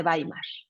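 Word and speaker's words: Weimar: tenemos que mencionar la República de baimar la W se pronuncia como bé chica de acuerdo Entonces la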